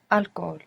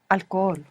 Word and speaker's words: alcohol: no tomo alcohol. Alcohol. Alcohol. Good, because we don't pronounce H in Spanish, do we?